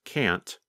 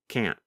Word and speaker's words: can't: In the pronunciation video of Lesson 20, you can hear Pete first pronounce can't with the letter T. And then the next time, you hear him pronounce it with the held T, can't.